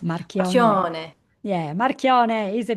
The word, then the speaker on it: Marchione: It's Italian, and I say it Marchione because that's how I grew up because they wanted to acclimate us acclimate the family to the American way of life.